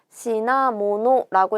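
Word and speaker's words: 品物: 자, 요렇게 생긴 한자고 시나모노라고 읽어서 물품, 물건 또는 상품을 나타내는 단어가 되죠. 요거를 시나라고 읽는 게 훈독이고 힝이라고 읽는 게 음독이에요.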